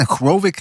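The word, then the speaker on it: Hrgović: Hrovic? How do you say his name? Hrovic? The Croatian guy. Hrgovic, yeah.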